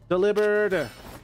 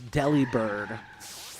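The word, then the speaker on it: Delibird: Delivered. Bam. I mentioned this ages ago, but I I always thought it was deli bird, but it is delivered.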